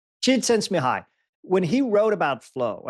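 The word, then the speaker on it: Csikszentmihalyi: but in fact I can't pronounce his name sense mahaley how do you pronounce it Gerald J sent me high jid sense mihi when he wrote about flow he's the father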